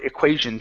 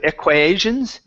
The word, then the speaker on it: equations: Okay, and last one is a pronunciation of the word equations. Instead of equations, it's equations. Equations.